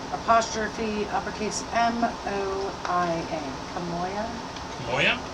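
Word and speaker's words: K'Moia: Kamoya? Moya? Kamoya. Moya! I figured it was at least somewhat pronounceable for people.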